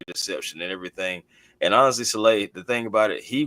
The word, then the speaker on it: Saleh: That's like, so it's pronounced Saleh. My apologies. Okay, Saleh. I got you. Okay, all right. And so I mean, don't get me, hey man, we always called him Salah.